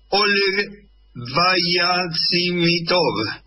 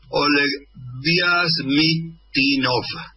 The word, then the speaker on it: Oleg Vyazmitinov: Oleg Vyazimitov. Seguramente no lo estoy pronunciando bien. Oleg Vyazmitinov.